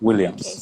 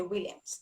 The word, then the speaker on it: Nwilliams: Okay, Williams. so My N is silent. okay, Williams.